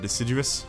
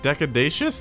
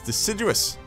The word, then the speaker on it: deciduous: to pronounce the word deciduous. So I was like, decadacious? That doesn't sound right. No, it's deciduous. That's right, deciduous.